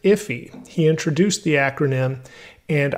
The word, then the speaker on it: IIFE: by ben allman and he pronounces it iffy he introduced the acronym